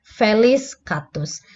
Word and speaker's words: Felis catus: ada namanya Felis catus Jadi dibacanya kalau untuk spesies biasanya terdiri dari nama genus dan nama spesiesnya jadi kita nyebutnya Felis catus Felis catus ini adalah